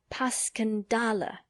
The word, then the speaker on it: Passchendaele: Because that's the way I pronounce it to myself, but I looked it up, and it's more like Paskendale.